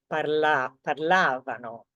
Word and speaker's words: parlavano: Parlavano. So can you see the stress is basically on the syllable before last or the syllable before the V.